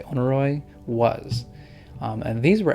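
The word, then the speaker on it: Oneiroi: can we onoroy and I think it's onroy or onroy. It's kind of actually kind of hard to pronounce it. Um, I wonder what this onoy I'm going to say onoy was.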